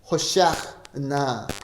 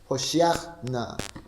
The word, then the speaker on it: 호시아나: 이것이 히브리어로 발음하게 되면은 안나 아도나이 호시아나 이렇게 소리가 납니다. 호시아나.